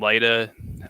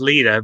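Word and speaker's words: Lyta: characters and daniel and lyda um i think it's pronounced leta but well it doesn't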